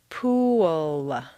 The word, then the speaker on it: pool: of this strange phenomenon pool looks like a nice one syllable word but if you say it this way at best it will sound like P and at worst it will be unintelligible to your listener for Clear comprehension you need to say three syllables pool where did that W come from it's certainly not written down anywhere but it is there just as definitely as the p is there the second example is